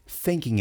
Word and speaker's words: thinking: Thinking about. Quando uma palavra acaba com G em inglês, normalmente você não pronuncia esse G. E várias vezes na escrita, as pessoas colocam apenas um apóstrofo no lugar do G.